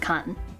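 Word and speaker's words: 官: by a line this is government Service uh pronounced con and then if you put the eat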